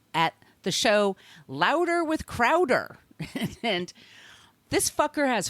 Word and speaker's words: Crowder: I'm going to pronounce his name like this, by the way. Crowder. Crowder. He is not from Boston.